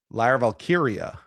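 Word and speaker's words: Lyra Valkyria: How do you pronounce it? Lyra Valkyia.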